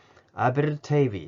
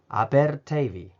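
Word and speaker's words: Aberteifi: いる別の地名で、アベルテイビーってとこがあります。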